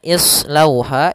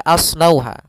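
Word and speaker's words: ٱصْلَوْهَا: Yauma bimaa kuntum takfurun pada bacaan islauha ini jangan dibaca aslauha karena ini berkaitan dengan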